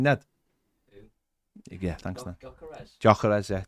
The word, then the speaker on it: Gyökeres: How do you pronounce his name, Ned? Yeah, thanks, Ned. Gyökeres, yeah. Gyökeres.